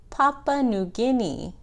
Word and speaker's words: Papua New Guinea: that blue end is called Papa New Guinea Papua New Guinea oh great baby you said it that's how you say it and that last one